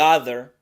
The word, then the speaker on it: other: un sonido vocálico, the other. Luego la O no se pronuncia como O del español, se pronuncia con un sonido muy relajado en donde solo se baja la mandíbula ligeramente.